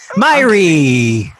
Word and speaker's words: Miree: We're trying to put the right syllable on the right emphasis, or the emphasis on the right syllable. You did so much better than most people do attempting that name.